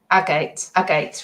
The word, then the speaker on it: agate: Ag, like it rhymes with bag. Bag, ag. Agate.